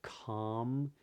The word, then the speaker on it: calm: which is there are some words where the L is totally silent in this accent anyway for example in a word like talk or calm you notice in those